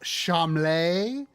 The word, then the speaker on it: Charmles: like spoiled brat prince whose name is Charmles, but he always insists that it's pronounced Chamlay.